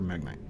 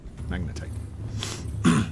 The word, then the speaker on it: magnetite: Just need copper or magnite. Yep. Copper or magnite. Magnetite. Magnite. I keep saying it wrong.